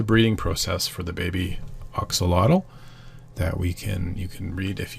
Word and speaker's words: Axolotl: It's pronounced Axolotl as there.